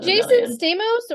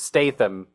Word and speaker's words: Statham: gonna need is it Jason Stamos or States okay we had this problem last time too and you couldn't figure out how to say this man's name it's Statham Statham it's not John Stamos John Stamos Jason